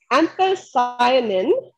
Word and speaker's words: anthocyanin: contain antioxidants uh specifically one that's called antho anthocyanin i think that's how you pronounce it and that anthocyanin is responsible for